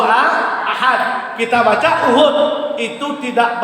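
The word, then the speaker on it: أحد: Contoh kita baca Qul huwallahu uhud. Contoh kan salah itu kan, tetapi nggak rusak masalah salat. Yang benar bacanya Qul huwallahu ahad.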